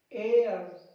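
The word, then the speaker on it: heir: H silent कुछ words के शुरू में, कहां पे, कुछ वर्ड्स के स्टार्टिंग में आपको एच को साइलेंट रखना है। देखिए इसको पढ़ेंगे हम लोग आवर, एच साइलेंट हो जाएगा our, honest, honour, एयर, एयर, ऐसे ही ऑनरेबल। ये आपको कुछ वर्ड्स के स्टार्टिंग में जो एच आता है ना उसको साइलेंट करना है।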